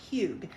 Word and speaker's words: hygge: around the theme of huge which is very hard to spell it is h-y-g-g-e doesn't look like huge but it is it is a Danish